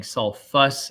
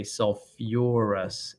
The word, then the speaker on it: sulfurous: ous but instead of saying sulfus acid you say sulfurous acid all right and the